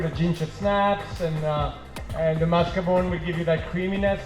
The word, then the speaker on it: mascarpone: Then the cheese, the mascarpone. How is it pronounced?